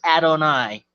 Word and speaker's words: Adonai: And my last name is spelled Adonai. That's pronounced Adonai. That's my real name, Adonai.